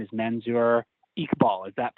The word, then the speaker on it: Manzur Iqbal: legendary synthwave producer Futurecop, and his name is Manzur Iqbal. Is that pronouncing that right?